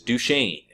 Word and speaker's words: Duchesne: about this at now the pronunciation on that is duchesne but of course it does look somewhat like Dutchsinse but when you